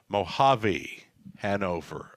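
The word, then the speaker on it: Mojave Hanover: now and then, Robert, to correct me on the pronunciation. Mojave, Hanover. I got it.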